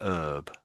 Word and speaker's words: herb: They would they never say the H in herb or say herb I should say. They always say herb.